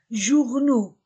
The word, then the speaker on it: journaux: Les petites annonces dans A-N-A, les journaux, O-U-U, A-U-X-O, dans les journaux.